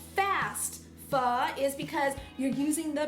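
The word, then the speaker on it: phở: Actually, it's pronounced pho. I'm not very good at saying because I'm Chinese, I'm not Vietnamese, but normally you'd say pho, and Vietnamese pho, which how Americans say it, is beef noodle soup.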